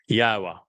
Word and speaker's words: Yahowah: Al Benim Yahwa which is the proper pronunciation of the name of our Eloha God as directed by his Torah teaching regarding his haya existence.